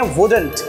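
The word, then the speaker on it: wouldn't: वुड नॉट को हम pronounce करते हैं वुडंट, वुडंट, राइट।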